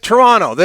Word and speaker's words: Toronto: It's like it's like Toronto. You don't pronounce the second T.